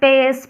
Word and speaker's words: pes: फिर आता है हमारा फुट का हिस्सा, जिसे बोलते हैं पेस। क्या बोलते हैं, पेस। तो कुछ टेक्निकल जो है कुछ जो है प्रोनाउंसिएट जो है पस भी होता है, PES, स्पेलिंग तो